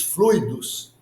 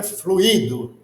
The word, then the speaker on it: fluido: se pronuncia Esta palavra a gente vê muito que se pronuncia fluído e não a palavra é fluido e não fluído Então os estudantes nós aprendizes de magnetismo Vamos a partir de agora pronunciar de forma correta fluido mas o que é